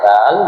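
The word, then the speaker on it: ذال: হবে দাল এটা হবে দাল দেখেন দাল এবং জাল দুইটা কিন্তু একই রকম এটার নাম হবে দাল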